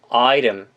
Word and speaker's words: item: 근데 약간 리을 발음 섞어가지고 item 해주시면 되고요.